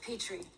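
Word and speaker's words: Petrie: Patrick you pronounce it Petri actually of course you do like the dish Verlander Island six doors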